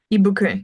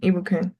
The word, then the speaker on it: Ibukun: pronouncing your name correct so how do I pronounce your name ibukun ibukun ibukun yeah yeah and so like this is this